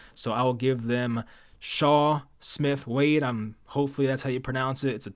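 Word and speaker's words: Chau: I will give them Shaw Smith Wade I'm hopefully that's how you pronounce it it's a tough name c h Au I think it's Shaw I've heard announcers say it so we'll go with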